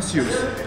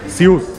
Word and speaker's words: SIUS: अच्छा इसका नाम है स्यूस। स्यूस यस। अच्छा स्पेलिंग क्या है इसके?